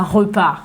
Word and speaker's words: repart: On ne prononce pas le E, on l'avale.